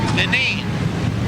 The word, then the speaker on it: Deneen: Deneen. What's that? Deneen's how you pronounce it.